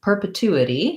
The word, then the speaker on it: perpetuity: the spelling here so perpetuity has uh third syllable stress so the two syllable is long and has the clear ooh vowel the first syllable per per is basically vowel er with a p if you find that